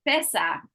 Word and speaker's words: professor: yeah yeah good but that's stress in that word is on the fair professor professor one more